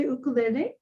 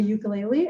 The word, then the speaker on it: ukulele: Well, in Hawaii, they say ukulele. Okay. And in the United States, a lot of people say ukulele, and I'm not sure which one to say.